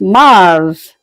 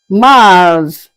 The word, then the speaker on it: Mars: March is pronounced as Mars, Mars.